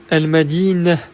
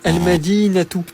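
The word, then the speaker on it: المدينة: Par contre, s'il n'y a rien après le ta marbuta, donc autrement dit que la phrase se termine par un ta marbuta, eh bien on la prononcera comme un h doux. Je te donne un exemple pour que tu comprennes mieux. Si j'écris ce mot, al-madinah, qui signifie la ville, ici, on ne dira pas al-madinatu, mais al-madinah, car il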